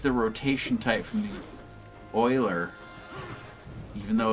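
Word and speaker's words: Euler: me so anyway uh uler it's Oiler I always pronounce it uler it does you just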